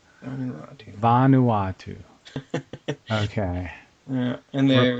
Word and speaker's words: Vanuatu: Let me see if I can get a pronunciation on this. Vanuatu. Vanuatu.